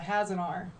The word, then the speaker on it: Hasenauer: Today, we have special guest Hasenauer. Hasenauer? Did that say her? I always trip over your name or feel like I'm gonna. Yeah, no, everyone does. It's Hasenauer. Hasenauer? Hasenauer. Yeah. It has an R.